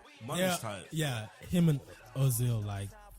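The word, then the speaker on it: Özil: My friend always told me, shout out Paige, she always told me to pronounce it Ozil, because the two, whatever it's called.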